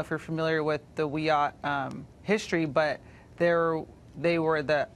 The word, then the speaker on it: Wiyot: It's pronounced Wiyot. Oh, I beg your pardon. Well, I stand corrected and informed. So, of all the statues to prominent Americans, why does this statue offend the Wiyot tribe?